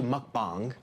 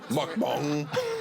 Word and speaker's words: mukbang: It's actually mukbang. It comes from Korea. That sounds racist. No. Mukbang. You say it like it's kind of racist. I'm saying it how they pronounce it. Mukbang.